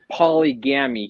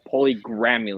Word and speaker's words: polygamy: He can't even pronounce the word polygamy. He pronounced it as polygrammy.